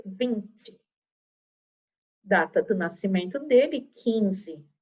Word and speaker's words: Vinci: Se escreve Vinci, mas se lê Vinci.